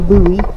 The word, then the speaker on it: Bowie: boxes did you know the name ho is pronounced the fork was named for Colonel George Washington buoy Colonel buoy shared a name with the famous